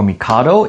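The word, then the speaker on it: 帝: This uh in Japanese is pronounced t or mikado.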